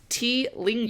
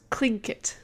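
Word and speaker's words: Tlingit: So it looks like T lingitate. Yeah, I tried to read that like 5 minutes ago. According to this website, it's pronounced clinkit. Okay. And haida. The clinkit and the haida both showed off status using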